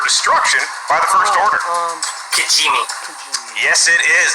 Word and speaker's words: Kijimi: Kijimi. Yes, it is. Not an easy one to spell, but you nailed the pronunciation.